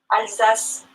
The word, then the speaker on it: Alsace: Alsace. Like sass.